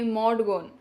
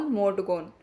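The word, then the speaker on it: Maud Gonne: AIDS इस कविता में मोडगोन नाम की महिला के बारे में बात कर रहे हैं। मोडगोन की स्पेलिंग है एम ए यू D mode ji O double N ई गॉन जिससे वे बहुत प्यार करते थे।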